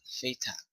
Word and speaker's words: Phaeton: Phaeton, that's how you say it.